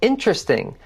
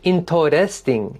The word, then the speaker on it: interesting: If you say interesting, like interesting, you have 4 syllables. Practice saying it with 3.